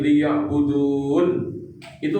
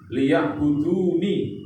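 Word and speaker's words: ليعبدون: Al jinna, bangsa jin semuanya, wal insa, dan bangsa manusia seluruhnya, illa, kecuali liya'budun. Itu nunnya kan di kasrah ya, liya'buduni. Tapi kalau berhenti waqaf, liya'budun. Begitu cara baca Al-Quran.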